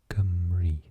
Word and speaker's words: Cymru: Cymru. Gum, like chewing gum. Re, like rewatch. Rewind. Croeso I Cymru.